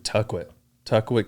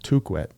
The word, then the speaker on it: Tukwet: I'm probably going to give to Tuckwit Canyon, probably their Champions course. Did you know it's actually pronounced Tukwet?